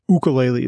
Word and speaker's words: ukulele: I think so and I think I mispronounced that wrong too it's ukulele is the correct pronunciation but yeah yeah I